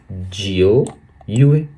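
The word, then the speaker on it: 九月: तो सितंबर को हम लोग चाइनीस में कहेंगे जियो यूए।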